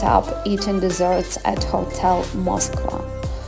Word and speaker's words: Moskva: We ended up eating desserts at Hotel Moskva. I pronounce it in Serbian way.